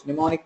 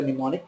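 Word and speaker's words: mnemonic: also use those codes pneumonic codes EQ I can also use EQ instead of symbol instead of the symbol I can also use the pneummonic code M is silent here we call it as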